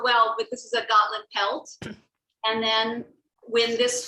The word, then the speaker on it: Gotland: It's Gotland Sheep.